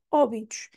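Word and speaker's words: Óbidos: que temos aqui aqui este o tem um acento o acento vocês têm que prestar atenção porque é rinha a mudar de lugar a pôr um chapéu e a avisar Ei estou aqui não estou no meu lugar habitual que seria bi idos mas não é onde ela está porque temos o acento então é obidos obidos o resto vai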